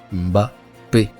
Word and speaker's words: Mbappé: Le MBA donc qui est prononcé donc avant la lettre B et transformé en lettre. Et donc au lieu de prononcer Mba, il prononce M puis ensuite prononce BAP. Alors qu'il n'y a pas d'apostrophe. La vraie prononciation est Mbappé.